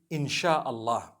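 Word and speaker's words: insya-Allah: a they pronounce it they pronounce the s y the way we pronounce sh so they can write it how they want for as long as when people read it they read it inshallah because a transliteration means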